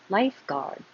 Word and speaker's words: lifeguard: Why is it GUA if we don't hear the U at all? I have no idea. It's just ga, guard, lifeguard.